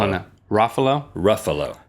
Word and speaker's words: Ruffalo: I think it's Ruffalo. Oh, no. Ruffalo? Ruffalo. Ruffalo. Rhymes with buffalo.